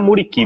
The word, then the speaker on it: Vedat Muriqi: Me ajuda aí na pronúncia, se eu falar errado, o Vedat Muriqi. Muriqui. Assim? Muriqui, é o Muriqui mesmo, né?